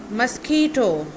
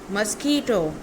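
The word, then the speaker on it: mosquito: Okay, third one इज मस्कीटो. मस्कीटो, मॉस्कीटो नहीं, इट्स मस्कीटो.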